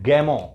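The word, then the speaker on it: Gamow: George गैमो याद रखना, वैसे तो स्पेलिंग लिखते हैं तो GAMO आर, मतलब आर आ जाता है, गैमोर आ जाता है, लेकिन जो प्रोनाउंसिएशन होगा वो जॉर्ज गैमो होगा।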